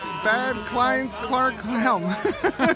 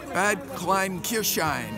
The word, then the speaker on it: Bad Kleinkirchheim: Can you pronounce that, please? Next year you're going to be in? Bad Kleinkirchheim. Perfect, thanks. Okay, you're going to be next year in? Bad Kleinkirchheim.